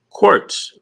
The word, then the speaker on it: Quartz: How do you say the last name? Quartz. Quartz. Okay. Yeah, like quartz crystal.